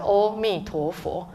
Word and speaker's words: Amitofo: So I said, okay, this is what you sing, only 4 syllables, right? Amitofo.